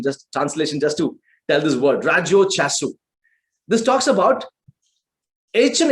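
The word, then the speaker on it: ラジオ体操: But then I've specifically underlined something called Radio Taisu. The right Japanese pronunciation is Rajo Chaisu. Okay, I learned the Japanese translation just to tell this word, Rajyo Chasu.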